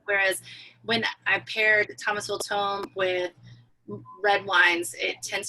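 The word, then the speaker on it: tomme: mm II a lot of people think it's pronounced timaya but it's actually tome if you were in Italy you would call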